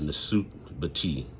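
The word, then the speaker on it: nswt-bity: in the third golden age, they had a Nasut Bati. And let me explain this. A Nasut Bati was a ruler, a king, Let me spell that word out for you too. A Nasut Bati is spelled NSWTBITY.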